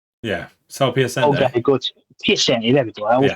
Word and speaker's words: Piacente: The problem that I had with it is I learned from is it Sal Picante, the guy's name is? Yeah, Sal Piacente. Okay, good. Piacente, there we go.